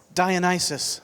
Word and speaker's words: Dionysus: the fact that I don't know how it pronounced this Diana died Dionysus there we go Greek god of wine in